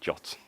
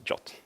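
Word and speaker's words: JWT: tokens or gave et or as they want to pronounce in shots so I'm going to be saying jot so not not a jot but jot and before we go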